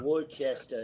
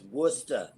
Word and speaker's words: Worcester: It's not Worcester. It's Worcester.